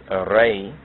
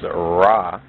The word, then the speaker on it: Re: etymologically related to Negus, just as Re, which is mispronounced as Ra, is not etymologically related to Ras.